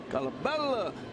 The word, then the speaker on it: Colabello: Colabello, you know, a little Italian in there.